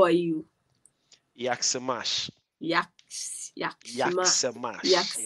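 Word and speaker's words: Jak se máš: Yaksamash. Yaks. Yaksamash. Yes, Yaksimash.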